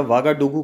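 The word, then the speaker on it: Ouagadougou: दिया गया जाता है लेकिन स्पेलिंग ओ साथी ओ यू जी ह ऐसा करके अजीब सी स्पेलिंग है आप देख लीजिएगा वागड़ डुग्गू करके इसकी स्पेलिंग कंट्री की कैपिटल है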